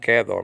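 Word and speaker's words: και: important in Greek okay it could be part of a conjunction like Chi nowadays pronounced kedo modern Greek okay that's how they change the I to a sound and the Greek conjunction are Kai nowadays nevertheless the alpha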